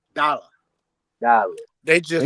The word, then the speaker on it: Dallas: They call him dollar. Even though the S's on there. Yep. And even though that A is there, he is actually called Dala. Dollar. They just And the S is silent, right?